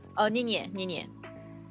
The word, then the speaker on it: Ninye: Ninye. Like Nye, but Ninye.